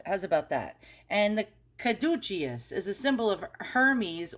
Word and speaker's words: caduceus: new yorker with a terrible pronunciation try to pronounce what this thing is this kadukius caduceus who the hell knows all right so it's a caduceus caduceus all right and that's what i call